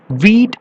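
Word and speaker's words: we'd: വി വുഡിന്റെ short form എന്ന് പറയുന്നത് V apostrophe D. വീറ്റ് എന്ന് പ്രൊനൗൺസ് ചെയ്യും.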